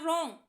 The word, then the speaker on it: wrong: जब भी आर से पहले डब्ल्यू आ जाता है तो डब्ल्यू साइलेंट होता है या रॉन्ग ही पढ़ा जाता है।